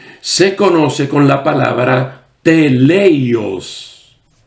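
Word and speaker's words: τέλειος: Allí nos habla que la palabra madurez en griego se conoce con la palabra teleios o teleios, acentuando la primera sílaba.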